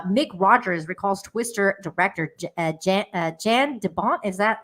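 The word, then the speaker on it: Jan de Bont: original movie uh Mick Rogers recalls twister director J Jan debont is that how you pronounce that Deon yand deont yond deont thank you yand debont uh having an alleged meltdown on set one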